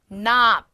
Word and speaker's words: knob: 자, 그리고 dresser, 서랍장, knob, K 발음 탈락, 손잡이란 뜻이고요.